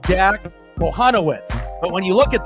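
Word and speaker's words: Jack Kochanowicz: went through it a couple times and it's pronounced Jack panowitz but when you look at that spelling on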